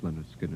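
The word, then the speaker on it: Lynyrd Skynyrd: of the rock jocks, was your first album, pronounced Leonard Skinner, and the one track that really stood out as far as airplay was concerned was Freebird.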